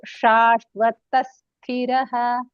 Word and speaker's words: शाश्वतः: There is a difference between sakarah and shakarah. Pronunciation of sakarah, Saraswati sa, it looks like this, and shakarah is a shankarasha. So shashvatasthiraha sarvatachakshuhu. So it should be recited like this only.